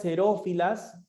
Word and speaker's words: xerófilas: cierto tiempo las plantas xerófilas se escribe con x pero se pronuncia como si fuera una s son aquellas que no